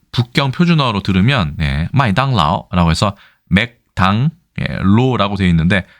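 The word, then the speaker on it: 麦当劳: 맥도날드 같은 경우도 그냥 보통화 그 중국의 그 북경 표준어로 들으면 마이당라오라고 해서 맥당 로라고 되어 있는데 마이당라오 하고 맥도날드 하고 크게 발음상 유사한 것이 아주 많지는 않은 것 같습니다.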